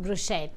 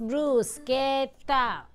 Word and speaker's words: bruschetta: It's not pronounced bruschetta, it's pronounced bruschetta.